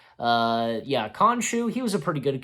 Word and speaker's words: Khonshu: Yeah, Khonshu. He was a pretty good character, and I was happy to where I read this that F. Murray Abraham, he's still open to continue voicing Khonshu, and yeah, and oh, I didn't see this.